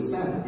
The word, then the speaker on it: Sabat: My understanding is it's Blum and Sabat. Yes. Sabat. I actually have a joke with Steve where I always call him Mr. Blum, and he calls me Mr. Sabat.